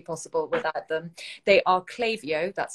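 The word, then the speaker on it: Klaviyo: really wouldn't be possible without them they are clavio that's spelled k-l-a-v-i-y-o an e-commerce marketing platform for brands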